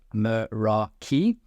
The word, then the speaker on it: Meraki: I also now phonetically know it's called Meraki, which of course almost reminded me of The Sound of Music, Do Re Mi, Meraki.